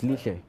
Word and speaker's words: Lishe: The principal of a local school asked Lishe to, have I pronounced that correctly, Colin? Yeah, it's Lishe.